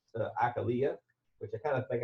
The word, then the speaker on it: Achillea: I found out recently that actually it is pronounced a Kalia which I kind of think I like that